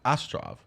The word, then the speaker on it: Astrov: - Yeah, yeah, yeah, and Richard Armitage, so Toby Jones is playing Uncle Vanya, and Richard Armitage is Astrov, did I say it right, Beth?